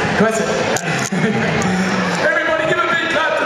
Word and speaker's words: Cohasset: Cohasset, is that pronounced Cohasset? Cohasset.